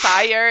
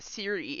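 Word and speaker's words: Cyre: It's Sire in some regions of the world, and it's pronounced Siri in other regions of the world.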